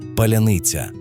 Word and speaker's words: Паляниця: Скажіть, будь ласка, Паляниця. І в цьому звучанні, у вимові кожного звука крилася відповідь, хто ти є насправді?